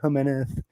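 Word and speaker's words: Jiménez: I know it's correct to say Jimenez, but I don't need to hear that.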